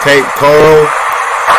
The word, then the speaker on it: Cape Coral: do you say Cape Corral I think it's Cape Coral we're gonna move the neighbors wow it blew